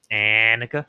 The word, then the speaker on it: Annika: it's with an eh. Annika. Yes. Annika. Okay, gotcha. A little more nose there.